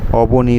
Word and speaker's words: অবনী: দন্তনে দীর্ঘই আছে কিন্তু আমরা বাংলায় উচ্চারণ করার সময় এগুলোকে অবনি বললে বোঝা যায় না যে হস্ ব্যবহার হচ্ছে না দীর্ঘ এর ব্যবহার হচ্ছে তো সংস্কৃতে কিন্তু উচ্চারণ হস্ বা দীর্ঘ আলাদা আলাদা হয় বাংলায় এটা হয় না সেই কারণে কি হয়েছে